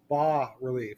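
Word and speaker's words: bas-relief: called as also called ba relief I want you to write that down Bas is pronounced ba it's pronounced like ba humbug High Relief comes out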